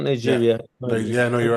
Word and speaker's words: Niger: Am I pronouncing it right? Not Yeah. Nigeria.